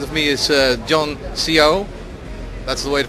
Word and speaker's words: Siau: 2007 and opposite of me is uh John Co that's the way to pronounce this John okay and he's head of